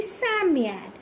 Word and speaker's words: Psammead: Psammead. Okay, so this is how you will spell, and the pronunciation should be Psammead, wherein P is silent, right?